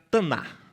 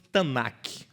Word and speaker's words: Tanakh: K, Ketuvim, e vira Taná. Como se fosse Tanakh, mas eles não pronunciam esse K no final. E como você está aprendendo muito hebraico aqui nessa aula, você também não vai pronunciar.